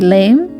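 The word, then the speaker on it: lamé: next up I have cosplay lame I think that's how you're supposed to pronounce it cuz it has a little pronunciation line over the E I honestly had a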